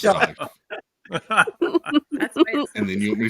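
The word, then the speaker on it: Steiff: So if I'm sitting right there, it looks like it says to me, being new, Dumbo plush by Stiff. That's what I'm thinking. Yeah, it's pronounced Stife.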